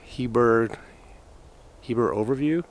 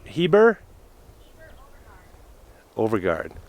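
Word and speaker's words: Heber-Overgaard: It's over by Heber Overview. How do you say it? Heber Overgaard.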